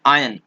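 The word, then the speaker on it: iron: असल में आदत बन गई है, मैं भी यहाँ पे गलत बोल रहा हूँ, इसको आयरन नहीं बोलते हैं, आयन बोलते हैं, आयन, ठीक है। तो आर इसमें साइलेंट होता है, आप समझिए।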